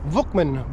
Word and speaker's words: Vukman: Tim Vukman, by the way, that's the proper pronunciation, as I finally been made aware, will be the very